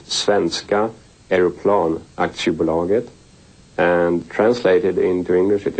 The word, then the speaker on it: Svenska Aeroplan Aktiebolaget: Saab, that is four letters, S-A-A-B, and it stands for, in Swedish it's pronounced Svenska Aeroplan Aktiebolaget, and translated into English it is Swedish Airplane, and Aktie is the same as stock.